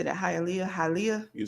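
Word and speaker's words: Hialeah: haia Florida how do you say that halia halia you're saying it right halia Florida and Orlando where's Toledo Ohio to yeah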